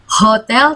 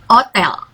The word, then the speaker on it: hôtel: Bacanya bukan hotel tapi hotel.